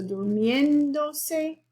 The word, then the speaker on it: durmiéndose: So durmiéndose has the accent on the E.